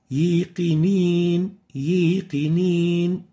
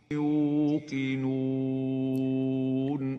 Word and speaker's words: يوقنون: Example, yiqinin, yiqinin. This is wrong. It's supposed to be yuqinun. Let's listen to the Hawsari. يوقنون Yuqidun and not yiqinin. So make sure you pronounce the waw from its proper articulation zone and avoid mixing it with a ya.